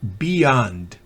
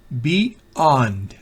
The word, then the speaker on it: beyond: Esa Y no se pronuncia. Beyond. Beyond. Si hiciéramos una pausa. Beyond. Pero como no hacemos esa pausa, cuando uno habla en forma, cuando une las dos sílabas, parece oírse una Y, pero no es sino porque no hay forma de evitarlo.